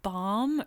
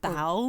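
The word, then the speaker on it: Baum: We weren't sure if it was bomb or balm. Bum.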